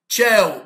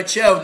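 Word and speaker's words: ciao: إلى اللقاء، سالي سلام، تشاو إلى اللقاء تنطق تشاو لأن كلمة إيطالي، بون جورني بون جورني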